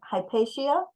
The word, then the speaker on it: Hypatia: in the right position hypatia it's hpia I think we I we all messed it up before not a long a it's a short a collaborative and so we'll